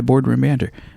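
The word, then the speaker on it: Bored Room Banter: They go by Boardroom Banter. Boardroom Banter. Yeah, Boardroom Banter. But it's spelled B-O-R-E-D. Like they're fucking bored.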